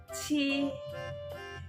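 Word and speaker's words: 七: ที่ พูด ตาม เรา ซื้อ นะ คะ ที่ She She แปล วัด เจ็ด ใน ภาษา จีน นะ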